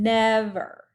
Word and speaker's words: never: Same thing with this one, never. Okay, we say the nev a little bit louder.